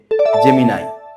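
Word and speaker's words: Gemini: সঠিক উচ্চারণ হবে YouTube GE এমই এন আই অনেকেই এটার উচ্চারণ ভাবে জেমিনি হবে কিন্তু এটার সঠিক উচ্চারণ হবে জেমিনাই জেমিনাই হচ্ছে এ আই ভিত্তিক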